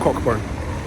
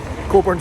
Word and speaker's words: Cockburn: yeah and rude but it's a silent c k it's coold bur that's how we pronounce it cobor not cockburn cobor Street I've actually stayed